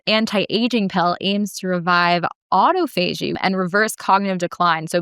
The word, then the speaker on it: autophagy: Autophagy. Sometimes when you see it in print, your brain assumes a pronunciation.